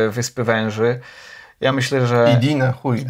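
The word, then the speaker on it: Иди нахуй: Na przykład te Idinahuj z Wyspy Węży. Ja myślę, że... Idinahuj. Akcentuje się inaczej.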